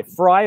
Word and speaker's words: Frei: fray or viva fry fry like phonetically like fry my last name phonetically